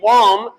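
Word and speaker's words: bomb: जैसे बी ओ एम बी बम बम नहीं होता।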